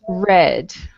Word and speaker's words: read: something about this word in the present tense this word is pronounced read in the past tense it's pronounced red okay it's the same